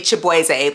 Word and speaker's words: Chibueze: Now, I don't know how people get Shaboozey from Chibueze because it's not that hard to pronounce. I'm not saying this just because I am Nigerian. It's literally Chibueze. Like, it's right there.